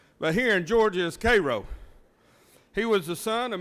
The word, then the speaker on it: Cairo: robinson was born in cairo georgia some people mispronounced it as cairo georgia but here in georgia is cairo he was the son of millie and jerry